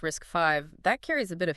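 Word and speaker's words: RISC-V: And then the name RACV, pronounced risk 5, that carries a bit of history too, doesn't it?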